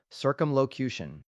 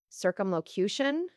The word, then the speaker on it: circumlocution: It is called circumlocation. Circumlocution.